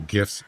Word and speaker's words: GIF: GIF isn't in there. Just the one that we're talking about isn't in there. Funny. at least have one. What a hard G is correct.